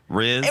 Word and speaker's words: rizz: No one says Rizzy, but Riz. We just had our own. Rizzy. Lex, no one says Rizzy. But it's Riz. It's short for charisma.